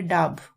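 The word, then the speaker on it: dab: इसकी जो प्रोनाउंसिएशन है वो है डाब।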